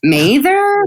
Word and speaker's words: Mather: a non-recorded session well also my name on the page looks really simple and then you go to pronounce it and you're like oh wait a minute uh know may there mother what What's it gonna be it's just American pronunciation mother you did it great and you even articulated